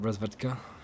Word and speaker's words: Razvedka: Razvedka? That's how you pronounce that.